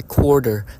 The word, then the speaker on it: quarter: When I was an exchange student, I've always had trouble with pronouncing quarter, or quarter. They say it as quarter, so it's a letter D.